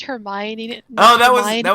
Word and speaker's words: Hermione: the author somewhere and they're like yeah it's pronounced Hermione oh that was a that was literally the example I was in my head in my head I was thinking it's her me own and then like when I say it now